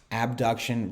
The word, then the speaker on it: abduction: angle over 180 degrees abduction versus adduction so a b duction which is a way in which we pronounce that because you can you